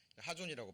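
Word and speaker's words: חזון: 때문에 그렇습니다 자이 묵시가 원래 원어는 하존이라고 발음이 되는데요 환상 이상 비전이라고 번역이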